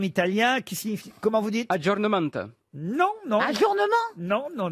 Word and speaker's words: aggiornamento: non mais vous l'avez le mans mais vous prononcez mal ou alors vous le connaissez santé allez-y à jo ajournement aggiornamento john holmes était le nom n'est pas la